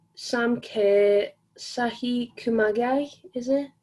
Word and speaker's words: Kumagai: We've got Caroline Graham Hansen, we've got Pernal Harder, we've got Jennifer Hermoso, we've got G, Sam Kerr, Sahi Kumagai, is it? Kumagai.